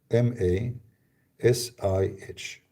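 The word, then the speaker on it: المسيح: Now remember, this is English, in Arabic, we're trying just to pronounce it close to the letters. Because in Arabic, we have the letter you don't have it. So it is Al-Masih, In English, you don't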